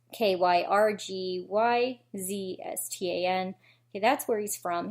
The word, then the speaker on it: Kyrgyzstan: He's 21 years old, and I'm going to pronounce this wrong. Kyrgyzstan? It's Kyrgyzstan.